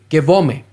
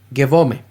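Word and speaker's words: γεύομαι: no en su totalidad, pero Esta palabra se pronuncia Gevome. Gevome.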